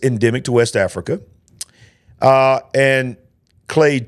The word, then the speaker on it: clade: Clade 1 and Clade 2, if I'm saying it correctly. And I know there's a possibility that it could be Claude. But more than likely, especially down here in Alabama, we say Clade.